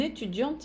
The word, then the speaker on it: étudiant: Une étudiante française, uma estudante francesa. Enquanto no masculino vai ficar un étudiant français. O T de étudiant e o S de français não se pronuncia.